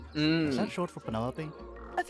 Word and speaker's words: Penelope: Is that short for Penelopey? Officially, yes. But I never can be bothered with all four syllables of it.